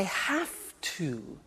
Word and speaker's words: have to: hear my pronunciation I have to notice I don't say V I say F have have it becomes have to have to becomes in pronunciation have